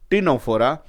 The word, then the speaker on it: Ctenophora: Here again C is to be written, but C is silent. So Pleurobrachia and Ctenoplana are the example of the Ctenophora.